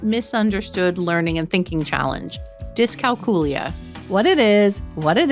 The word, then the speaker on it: dyscalculia: today disc calula or disc calcula or something else so I have for a long time always said disc calula and I do believe that is the proper way to pronounce it um I don't think